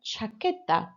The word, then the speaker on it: chaqueta: Una chaqueta. And again, you've got that difficult QUE sound. So just sounding like a KE again.